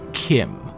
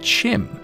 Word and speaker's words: CHIM: bethesda and he said chim is the canon way to pronounce chim with a che like cheese his words but anyway